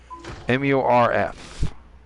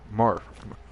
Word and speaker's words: MURF: MURF. Morph. Am I pronouncing that right? Morph? Morph. Morph. All I know is it's Smurf, just with an M instead of an S.